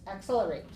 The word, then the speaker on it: accelerate: accelate that's the verb how many syllables accelerate accelerate accelerate accelerate right okay so four syllables uh what's the stress syllable accelerate accelerate second one second one okay so 4 two accelerate